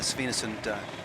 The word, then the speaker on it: Svinesund: earlier today on the Svinesund bridge. Is my pronunciation okay? Svinesund, it's good, is it? Yeah, it's very good.